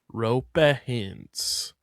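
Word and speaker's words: Roope Hintz: Can I get a a vocal pronunciation? Um believe it's rupee hints pronuniation. Roper hints. Roper hints. Roper hints. Rupa hints.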